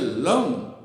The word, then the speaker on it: लं: कहते हैं वह है लम यह होट भिर जाते है यह जीभ जो है य दात के लग जाती है और लम लम लम लम का उच्चारण कर करते हैं तो